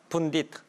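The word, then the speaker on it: pundit: 영어로 어느 나라 말일까요? 인도 말이에요. 푼딧 이렇게 발음하니까 아시겠죠?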